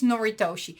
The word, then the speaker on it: Noritoshi: And the slight difference is that you need to keep the lights on at night, which is, and let me pronounce it correctly, it's Noritoshi.